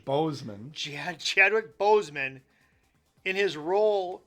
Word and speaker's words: Boseman: Boseman.